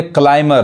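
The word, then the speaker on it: climber: तो यहाँ देखिए इसको क्या पढ़ेंगे, क्लाइमर, यानी यहाँ पे बी नहीं पढ़ाएगा, यानी पर्वतारोही।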